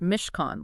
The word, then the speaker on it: Mishkan: of time and the Mishkan too, right? Which just so everyone knows is pronounced Mishkan, like con artist.